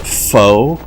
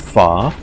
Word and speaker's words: pho: One thing I recommend trying, if you haven't, speaking of different cultural foods, I've always called it pho, but I heard the other day that it's actually supposed to be pronounced pho, but Vietnamese noodle soup, basically.